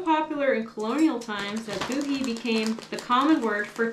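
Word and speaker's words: Bohea: Booty, pronounced a boohee, is a distinctive black tea blend with a light smoky flavor. It was so popular in colonial times that boohee became the common word for tea.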